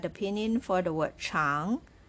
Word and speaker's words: 常: pinyin for the word cháng, ch as a consonant and ang as vowel, pronounced with the second tone on top of a. This is how you pronounce it.